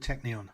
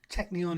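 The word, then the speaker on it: Teqnion: Sweden to look at a programmatic acquirer called Techneon. That's spelled TE Q N I O N and its ticker is TE Q on the Stockholm NASDAQ exchange. Technon is one of Sweden's newer programmatic acquirers founded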